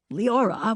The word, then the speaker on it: Leora: In high school, I changed the V to R, and Leora, pronounced Leora, was born, hence.